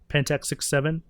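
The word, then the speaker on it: Pentax 6×7: So if you have an X, it's either refers to like a cross or you don't even say it.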